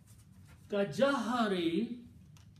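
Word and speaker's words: كجهر: Kajahari, this is pronounced as ka jahari, like the word ba'dikum, some of you.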